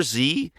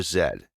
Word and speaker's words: Zed: on the so letters in our alphabet yes our alphabet are pronounced differently actually just one the last one your Z is our Zed and this is crucial